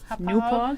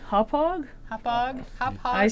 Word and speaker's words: Hauppauge: Hauppauge? Hauppauge. Yeah, I know. I said it's can't really poor can't help you there. And 5 people were like, Hauppauge.